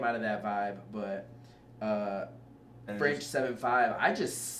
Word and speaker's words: French 75: Also, when I was reading the track list for Heartbreak, I saw French 7/5, and I read it in my head as French 75.